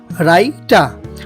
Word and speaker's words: writer: চলুন, WRITER মানে রাইঠা, রাইটা। রং, রং। আমরা কিন্তু এখানে ডাবলইউ উচ্চারণ করিতেছি না।